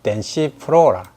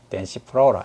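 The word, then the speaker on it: densiflora: 파이누스가 속명이고, 그 다음에 종명은 덴시프로라, 덴시프로라 이렇게 발음을 합니다.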